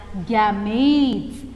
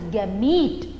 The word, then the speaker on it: gamete: give them a name you call them as gametes you pronounce it as gamete but when you write it is gamete e but when you pronounce it is gamete